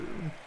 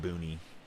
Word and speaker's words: Boone: You got your cat in Boone? It's the E is silent, right? It's not Booney, is it?